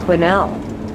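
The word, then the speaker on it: Quesnel: s is silent the S is silent quel yeah it's a very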